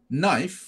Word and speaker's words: knife: s เอาไว้ scissor ก็เหมือนกันเพราะว่ามันมีกรรไกรเนี่ยมันมีอยู่2ด้านถ้ามันมีด้านเดียวก็จะไม่เรียกว่าเป็นกรรไกรนะมันก็จะเป็นกรรไกรพังไปนะอันนี้จำเอาไว้นะครับ knife ตัว k ไม่ออกเสียงนะครับ knife แปลว่ามีดเนี่ยครับ cigarette อย่างเงี้ยก็บุหรี่แล้วมันนั้นเราว่าไปแล้วนะครับอย่างเช่นเนี่ยครับเราจะพูดนะนี่เป็นประโยคบอกเล่า I have